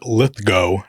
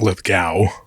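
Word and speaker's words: Lithgow: Uh, John Lithgo, not Litho. I learned that this year. Yeah. Yeah. It's It's been very troubling. It's always been John Lithgo.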